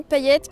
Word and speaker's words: Paillette: Et j'en profite pour vous dire que mon nom se prononce paillette. On prononce le thé, ça se prononce pas comme je l'entends souvent.